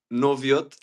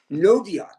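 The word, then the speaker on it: Noviot: Pronounce that for us, Fitz. Noviat. Noviat.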